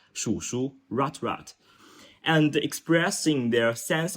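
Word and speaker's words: 鼠: Members began to referring to themselves as rat rat in Chinese is pronounced as shu ratrat and expressing their sense of social marginalization and low status through self-deprecating humor.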